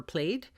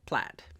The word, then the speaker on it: plaid: against the plaid and I did ask a Scottish person if it was supposed to be plaid or played and she said plaid so just so you know you're you're saying plaid you're saying it right alright and then that's